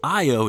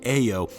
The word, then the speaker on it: Ayo: It is Ayo, not Ayo.